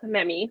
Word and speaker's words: Memi: name yes um so it's in Spanish so it's actually pronounced memi which is totally fine because everybody pronounce it Mimi that's perfect yeah uh